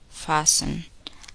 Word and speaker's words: fasten: The letter T is silent in the following words. Listen and repeat each word after the speaker. Often, listen, fasten, hasten, mortgage, mustn't.